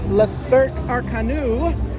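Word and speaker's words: Le Cirque Arcanus: Okay, just barely went to La Cirque Arcanu.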